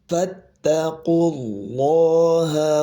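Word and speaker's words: فَاتَّقُوا اللَّهَ: Tasydid penekanan ya ketika membaca tasdid atau namanya nabar ya fatta fatta ya jangan fataku jangan fata tapi fatta ya huruf fanya juga jangan dibaca pa ya tapi fa ya fa fattaqulaha wa aslihu Ya, di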